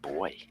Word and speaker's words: buoy: I think it's pronounced boy, though. A lot of cultures pronounce it boy.